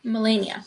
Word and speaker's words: Melania: It says to pronounce as M. M u H. Melania.